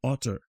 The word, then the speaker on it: hotter: would be hotter, but you wouldn't pronounce the H like I did. You would just say otter. It's otter.